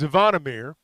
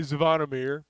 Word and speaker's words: Zvonimir: But, yeah, I think most people will call him Big Z, but it's Zvonimir, or at least that's the Americanized way, Zvonimir and Ivisic.